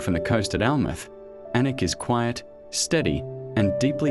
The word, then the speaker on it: Alnwick: Annick, a small market town in Northumberland, spelled Alnwick but pronounced Annick.